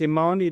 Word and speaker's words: Imani: How do you say it? Is it a money development? So it's it's Imani Development.